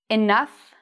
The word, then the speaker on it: enough: We have here the word tough, enough, rough. So in this case, O-U-G-H has an F sound.